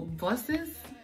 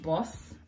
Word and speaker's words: bus: saves you money for buses like buses buses because here I pronounce it boss which is like my normal Nigerian pronunciation of a boss but